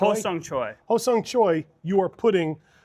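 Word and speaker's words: Hosung Choi: Ho-sung Choi.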